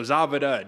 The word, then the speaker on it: Zawada: I just found out that's how you pronounce the German names. The W's are V's. So Zavada, David Zavada, Saget.